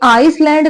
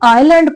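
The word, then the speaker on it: island: lonely आईलैंड क्या है यह वर्ड आइलैंड इसमें जो एस होता है ना वो साइलेंट होता है ठीक है यानी कि एस की प्रोनाउंस एशन नहीं होती है यह आइसलैंड नहीं पढ़ा जाएगा यह आईलैंड पढ़ा जाएगा ठीक है आईलैंड होता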